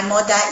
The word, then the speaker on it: mother: In Nigerian English, we say, oh, my mother is here. My mother. With the D instead of the.